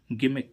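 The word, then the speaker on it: gimmick: ही हम इसमें देखें जी आई डबल एम आई सी के गिमिक गिमिक मीन्स होती है नौटंकी तो इसमें देखो जी के बाद क्या आ रहा है आई फिर भी इसका उच्चारण क्या निकल रहा है ग ऐसे ही इसमें हम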